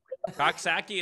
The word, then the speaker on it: Coxsackie: Coxsackie is correct. Is that right? Okay. Looks like it sounds then.